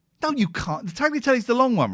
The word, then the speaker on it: tagliatelle: The tagliatelle's the long one, right? Tagliatelle. The G is silent.